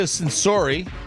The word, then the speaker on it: Censori: Him and Bianca Censori, that's how you say it. Don't look at Sensory.